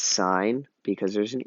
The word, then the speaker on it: sine: sine cosine and tangent even though it is abbreviated it's not pronounced sin do not say sin it's signed because there's an e